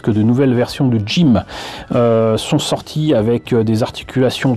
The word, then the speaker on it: GM: 79 donc dit gm enfin ça se prononce jim et c'est un kit